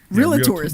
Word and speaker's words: realtor: Or- You mean the word that they can't Realtors. even, the real estate agents can't even pronounce? Realtor? Wait, how do you say that word? Realtors. It's realtor. Yeah, it's realtor. Realtor. It's not realtor, right?